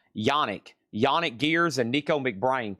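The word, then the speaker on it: Janick: So, it's signed by a Bruce Dickson, Adrian Smith, Dave Murray, Steve Harris, and that's pronounced Yanni.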